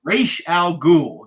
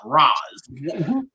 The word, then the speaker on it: Ra's al Ghul: That's my one knock film is it's Ra's al Ghul, not Raz.